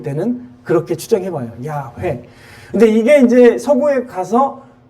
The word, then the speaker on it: 야훼: 원래 히브리어 말로는 발음으로는 야훼예요.